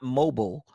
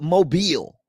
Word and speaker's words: Mobile: great uhuh uhuh Harold you are from mobile not mobile but mobile mobile cuz when you from there it's mobile even though it's spelled like mobile it's still mobile mobile now there was an